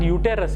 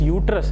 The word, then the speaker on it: uterus: Okay, pronunciation you see, it is not uterus. Okay, some people say uterus. It is uterus, it is pronounced, or else it is called womb of.